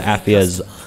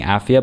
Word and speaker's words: Afia: 2.5 seconds compared to Afia's 5, I believe. I keep pronouncing her name wrong, by the way. I got into the habit of saying Afia, but it's Afia.